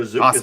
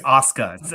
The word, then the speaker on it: Asuka: I don't even know where Azuka's been lately. No, it's Asuka. It's not Azuka.